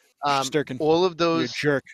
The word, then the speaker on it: Shesterkin: All of those Russian stars, like hell that they would love to have Ovechkin, Vasi, Shesterkin, and I screwed his name up. Shesterkin.